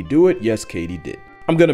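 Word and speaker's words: katydid: completely butchered that word turns out it's Katie did as in did Katie do it yes Katie did I'm gonna mispronounce it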